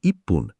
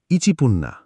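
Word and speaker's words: いっぷん: আর সারে মানে হান এখানে তিনটে উচ্চারণ একটু কঠিন এক মিনিট মানে ইপ্পুন ইচিপুন ছয় মিনিট মানে রোপপুন রকুপুন্না আট মিনিট মানে হাপপুন হাচিপুন্না এগুলো জাপানি উচ্চারণের স্বাভাবিক পরিবর্তন একটু প্র্যাকটিস করলেই ঠিক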